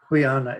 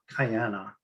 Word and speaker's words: Quyanna: Kayak is not Kayyak, or Kuyana is not Kayana, spelled Kayana.